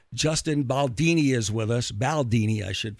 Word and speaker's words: Baldoni: Baldoni, I should pronounce it correctly. Baldoni, no worries. Yeah, Baldoni.